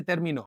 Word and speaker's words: terminó: Que mi estadía cerquita de ti ya se terminó. Again, guys, you can see how the tilde and how I use the pronunciation, okay? Enunciate. The stress is on that vowel sound. Terminó. No terminó, but terminó.